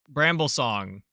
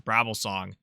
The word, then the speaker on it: Bramble Song: Or, like, for Bramble Song, whose name I think I was pronouncing wrong for a long time, because I always thought it was Brabble Song.